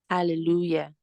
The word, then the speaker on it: hallelujah: then you have hallelujah hallelujah okay the Hallelujah the J letter J there is pronounced as y pronounced as y okay